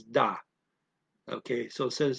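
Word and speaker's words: dat: So they use a D for that. Dot. Okay, and the I is said like a European A, ah, so it's da instead of that, okay.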